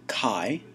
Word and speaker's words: chi: after the greek letter chi the chi-squared distribution is the distribution we'll use it's the greek letter chi it's written chi it's pronounced k-a-i and it's the ancestor